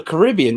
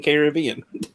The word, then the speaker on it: Caribbean: A Caribbean, that's how you say it. I keep on saying Caribbean.